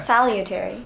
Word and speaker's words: salutary: てあげてください salutary これが日本人できないサリって言っちゃうんで理そう理 U ってこと理英語にないのにみんな理